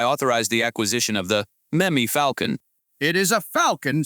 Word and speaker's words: Memmy: M-E-M-E, meme. If you have to name it after the town's culture. No, Gary. You're mispronouncing it. It's Memmy, like Jimmy.